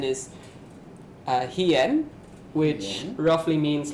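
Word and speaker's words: 飛燕: For the Japanese, the Ki-61 made by Kawasaki is called the Japanese pronunciation is Hien, which roughly means like the flying swallow, like named after the bird.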